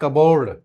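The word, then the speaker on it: cupboard: part yoke autumn प्झड़ नॉट कबोर्ड that is कबोर्ड कबोर्ड कबोर्ड yes pronounce it कबोर्ड Raspberry हां लीची Raspberry island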